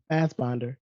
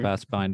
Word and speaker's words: Fassbinder: Hmm, I'm begging between like Kubrick and there's this German filmmaker, Fassbinder. If Mhm. that's It's yeah, I Fassbinder, think that's right. Mhm. Fastbinder or Fossbender. Yeah. I know who you're talking about. Fassbinder.